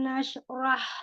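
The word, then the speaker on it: نشرح: Alam nashrah laka sadrak. Sekali lagi. Shotnya itu naik, Alam nashrah laka sadrak. Roknya tebal, jangan Rah, rohnya tafkhim. Nashroh, rohnya tebal. Ro angkat pangkal lidah. Roh, Roh. iya.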